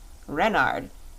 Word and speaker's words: Renard: is King Reynard IV Renard with the accent on the ren what's Ren asked button